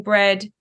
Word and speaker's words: BReD: So let's just call it bread, spelled like Ed, BRED.